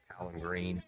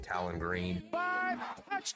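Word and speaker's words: Taylen Green: difficult state to pronounce Talon green Arkansas no Flags I made Miss pronounce his name but Talon green 41 Y and a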